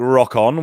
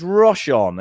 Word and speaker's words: Rochon: Now, it's spelled, it looks like Rock On, which is a great name, I think, but it's Rochon. It's a softer way of putting it across.